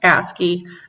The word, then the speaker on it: ASCII: about first is called asky and it's spelled like capital a s c i i and it's just pronounced asky it's an alternate code